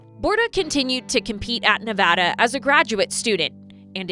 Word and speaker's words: Nevada: And I go, "No, it's Nevada. Let's learn how to say this right."